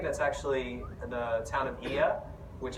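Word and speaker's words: Oia: actually the town of iya which everybody calls Oya because it's oh I a but it's actually pronounced together it actually it's so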